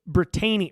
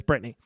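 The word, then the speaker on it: Britainy: a screenshot off of brittany brittany sorry oh gosh i always say her name so weird it's like i say it how it's spelled uh but yeah it's britney britney beshear for the first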